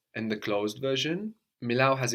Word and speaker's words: μιλάω: Milao or milo. And the closed version? Milao has its accent on the end, so Μιλήσω.